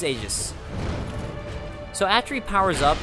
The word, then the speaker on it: Aegis: I think it's pronounced Aegis. It was Aegis. I looked it up in my lore video when I talked about it, but now I'm not remembering if it's Aegis or Aegis, but I believe it's Aegis.